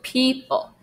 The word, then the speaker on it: people: Priest blessed the people. There's another long E sound, it's spelled with EO, people.